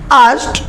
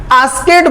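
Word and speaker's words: asked: Forms होती हैं, आस्क, आस्क्ड, आस्क्ड। लेकिन सेकेंड और थर्ड फॉर्म में ईडी लगा होने के कारण कई लोग इसको आस्केड बोल देते हैं, जबकि ये उच्चारण गलत है। इसका सही उच्चारण है आस्क्ड।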